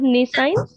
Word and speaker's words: nescience: word said nescience?